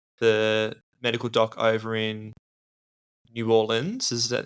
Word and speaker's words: New Orleans: medical dock over in New Orleans is is that how you pronounce it New Orleans don't say New Orleans though they'll know you're not from there and the work that